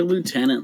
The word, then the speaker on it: lieutenant: Why do you guys say lieutenant like that? Lieutenant, there's no F word. There's no F in that word.